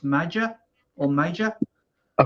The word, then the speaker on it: Maja: Now it's spelled Maja, but I think it's pronounced Major or Major. I call him Major.